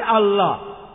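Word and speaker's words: Allah: এলা বা এলা এ আমরা মুসলমানরা যখন ইংরেজিতে লিখি আল্লাহ আমরা লিখি এ ডবল এল এ এইচ কিন্তু রেফারেন্স লিখেছেন এল এ এইচ তারা বলে এলা আমরা বলি আল্লাহ আমি যখন স্কুলে ছিলাম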